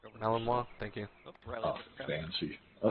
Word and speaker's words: Malinois: It's Malinois. Malinois, thank you.